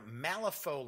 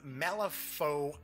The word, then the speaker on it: Malifaux: not just Wyrd Games, as well as their Malifaux lineup of titles, are going to be pleased